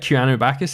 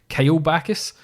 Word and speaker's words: Keanu Bacchus: Keanu Bacchus never once said Keanu Bacchus. He said Kyle Bacchus and Kieran Bacchus.